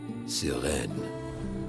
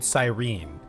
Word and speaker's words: Sirene: So I've been pronouncing it Sirene, but they were like Siren or something.